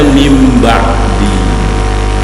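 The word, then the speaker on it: مِن بَعْدِ: Ketika tulisannya min ba'di, bacanya mim ba'di.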